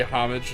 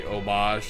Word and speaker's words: homage: think of one I guess you go with p homage to something and pay omage to something or it's called an omage like I get it you know it's French I understand the proper pronunciation but I've also heard it said both ways I see it's one